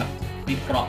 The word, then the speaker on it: วิเคราะห์: วิเคราะห์ ข้อ มูล นะ เพราะ มี ร เรือ ต้อง ออก เสียง ให้ ถูก ครับ วิเคราะห์ ข้อ มูล นะ ครับ